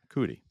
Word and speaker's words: Coody: Cootie. Cootie. That's how we're pronounced.